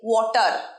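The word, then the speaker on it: water: রটা উচ্চারণ করবে না, প্রত্যেকটা ভিডিওতে আমি বলে থাকি শব্দের শেষে র উচ্চারণ হবে না যদি স্মার্ট ইংরেজি শিখতে চাও।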